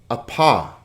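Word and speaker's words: ἄπα: 2 vowels, so 2 syllables. A-pa. Notice here that in general, we try to put the consonant with the vowel that follows. So it's not op, ah, but a-pa.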